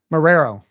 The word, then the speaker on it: Marrero: now love listen emo how do you say his name Marrero Marrero yeah like like like George A Romero but Marrero yeah well thank you